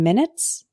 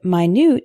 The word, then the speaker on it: minute: you back in 10 minutes? The word minute is spelled the same way, but it's an adjective, meaning extremely small. For example, this isn't an exact replica. There are some minute differences. Minute, minute.